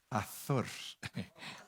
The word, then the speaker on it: Azor: Si lo pronunciamos bien es Azor. Azor, porque es con Z.